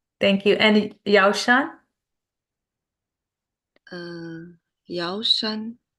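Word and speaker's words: 药山: Could somebody say how to pronounce that master name? Yeah. Sure. 石头西迁. Shichian. Thank you. And Yao Shan? Yao Shan. Yao Shan.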